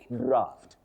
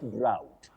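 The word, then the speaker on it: draught: Dixon, you say draft. Draft, not drought.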